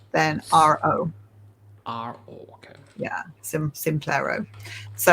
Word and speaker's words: Simplero: Yeah, Simplero.